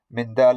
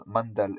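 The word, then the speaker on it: مندل: Mindal ibn Ali, this is the correct pronunciation according to Al-Khatib and others. Some also give it as Mandal.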